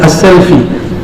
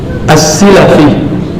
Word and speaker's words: As-Silafi: Lalu berpindah lagi ke, ini bacanya bukan selfie ya, Abu Tahir Ahmad bin Muhammad bin Ibrahim As-Selfi, bukan, bacanya apa? As-Silafi, bukan As-Salafi, As-Silafi.